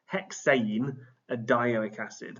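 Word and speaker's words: hexanedioic acid: Hexane a dioic acid. That's the pronunciation.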